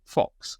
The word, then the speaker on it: Zeke Faux: it looks like it you might call him Zeke foe but he says he's very clear on Twitter that he pronounces it Fox so that's what I'm